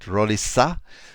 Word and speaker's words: Roliça: 188 at Risa uh you pronounce the SE the C as an S because in in Portuguese you have a little sign under the sea and it works as in French it sounds as an S so it f